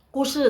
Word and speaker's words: 故事: Kushi tadi kan Lao sudah bilang kushi, gusi dibacanya kushi itu artinya story, li itu dalam, tonghua dongeng.